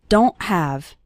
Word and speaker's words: don't: most of us and at the end of the word don't we don't really pronounce the T strongly so don't say don't